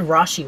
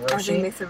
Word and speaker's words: Roshi: They said Rashi once, actually. Instead of Roshi.